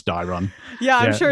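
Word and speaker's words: Daeron: Mablung and Dairon. So I was making fun of this name in one of the previous chapters because it just sounds like Darren. No, it's Dairon.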